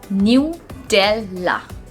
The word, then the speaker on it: Nutella: nutella okay nutella so normally we pronounce it as nutella nutella where is the correct pronunciation of this word is new della new del la you